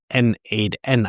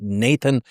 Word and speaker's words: n8n: And over the last couple days, there were actually I think a total of four critical vulnerabilities in N8N. I think some people pronounce it also Nathan.